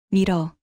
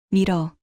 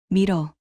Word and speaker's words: 밀어: 미러 미로 아닙니다. 한 번에 밀어 밀어 아 좀 더 세게 배에서 소리를 올려요.